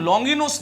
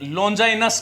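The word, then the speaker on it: Longinus: और इनका जो अंग्रेजी नाम है, अंग्रेजी जो प्रोनाउंसिएशन जो है, अंग्रेजी उच्चारण जो है वो हम लॉन्गिनुस नहीं करते हैं, अपितु क्या करते हैं? लॉन्जाइनस करते हैं।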